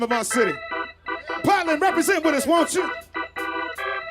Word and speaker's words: Portland: Y'all gotta do me a favor and let the people coming in the Potland know we took the R out of it. We don't even say it like that anymore. It's Potland.